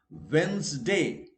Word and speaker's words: Wednesday: no d is silent wednesday not next day wrong tea is silent wednesday and wednesday remember both are correct it is wednesday or wednesday but in any case d will be silent in india wrongly we